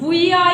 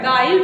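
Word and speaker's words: guile: यू आई एल ई जी यू आई ए जी के बाद यू आया है यू आपका बाबल्स है समझ रहे हो तो इस गुया नहीं पढ़ना है रंग हो जाएगा गाइल पढ़ना है क्या पढ़ना है बेटा गाइल जैसे गिटार जी यू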